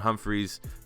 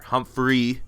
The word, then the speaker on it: Humphrey: we have the Speedy Marin Humphries or Humphrey let's pronounce his name correctly uh to kind of